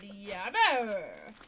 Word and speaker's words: Jabber: We do have a chicken named Yabber. I didn't realize. Yeah, it's bear. Actually Jabber. But you pronounce the J like a Y.